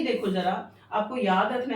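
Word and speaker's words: ज़ार: गया अब ये देखो जरा आपको याद रखना है एक नंबर के लिए की रश जर निकोलस के टाइम पर टी साइलेंट है ठीक है तो जर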